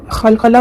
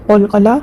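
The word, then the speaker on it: قلقلة: खलखला बहुत लोग बोलते हैं जो कि गलत लफज़ है। उससे परहेज करें और कलकला यहां पर उसको अच्छे से प्रोनाउंस करें।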